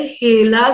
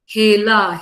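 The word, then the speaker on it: HeLa: एल A sale line त्याचा उच्चार करायचा आहे हेला सेल लाईन हेला हेला सेल लाईन मग प्रश्न असा येतो की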